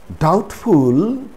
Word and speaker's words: doubtful: it's not subtle subtle this rule also applies to the words that have these words as their roots for example data data or inundated so the root word is date so dated indebted doubtful subtlety subtlety so in these cases also b is not pronounced that is b is silent when c is silent